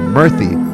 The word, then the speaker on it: Murthy: mean oh very interesting so it's not spelled the same way but it's pronounced the